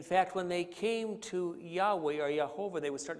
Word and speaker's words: Yahweh: So when they came to Yahweh, they would say Yahovah, because it was the vowel points of another name of God, Elohim.